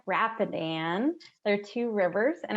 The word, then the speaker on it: Rapidan: so thank you again Maggie bloomstrom and it's pronounced Rappahannock Rapidan there are two rivers in our area um